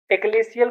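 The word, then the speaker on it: ecclesial: एक्लेशियल को अखिलेश का डीएल अगर का हटा देंगे तो अखिलेशियल अखिलेश डीएल अखिलेश डीएल अखिलेशियल।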